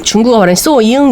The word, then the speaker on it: Xiuying: 알고 보니 중국어 발음 으로 는 " 소영 " 은 " 수잉 " 이라 고 읽더라고 요 . " 수잉 " 이에요 . 수잉 . 그러니까 한국어로 " 수잉 " 을 발음 하면 " 수인 " 처럼 들리는 거 죠 ? 간단히 말 하면 " 수잉 " 이지만 , 한국어로는 " 수인 " 이라 고 발음 할 수도 있습니다 .